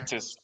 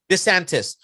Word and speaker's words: DeSantis: How you pronounce the governor? DeSantis. DeSantis.